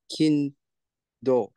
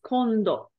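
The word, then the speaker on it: 今度: read this word um kin do good guess it's condo condo correct this is pronounced as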